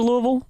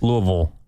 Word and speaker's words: Louisville: Louisville. And that's what I just said, Louisville. You pronounced the Ville.